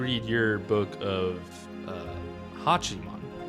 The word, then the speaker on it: Hachiman: But Tam, you read your book of, uh, Hachiman, right?